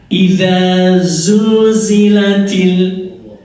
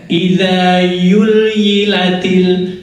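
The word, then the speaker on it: إذا زلزلت: Idza zulzilatil, membacanya idza yulyilatil zul yul zul yul itu khas.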